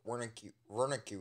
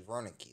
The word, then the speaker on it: Wernicke: But Markiplier pronounces Dr. Wernicke wrong, it's actually Wernicke, so.